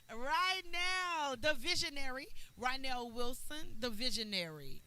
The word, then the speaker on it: Rynell: I always say his name wrong. Rynell, the visionary. Rynell Wilson, the visionary, right?